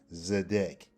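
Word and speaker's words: צֶדֶק: It's still pronounced the same way. Zedek.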